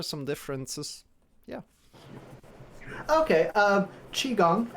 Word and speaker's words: qigong: yeah okay um qigong uh you could see the spelling in different ways so uh most likely you'll come across the q-i-g-o-n-g and then if you look at um the old wade guile system uh you'll it'll be c-h-i-k-u-n-g same exact pronunciation same exact words but